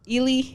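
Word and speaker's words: Ealy: Ely.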